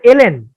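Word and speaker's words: ln: মিলাই ফেলাই, ওই যে লন বলে ফেলি এটাকে আমরা, বা এরকম কিছু একটা উচ্চারণ আমরা করি, লন। অ্যাকচুয়ালি এটা উচ্চারণ লন না, এটা উচ্চারণ হচ্ছে এলএন।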